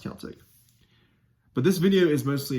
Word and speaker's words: Celtic: So just to let you know, it is pronounced Celtic.